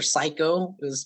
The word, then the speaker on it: Siko: The police officer, like the head investigator, his name was fucking Officer Psycho, but it's spelled Siko.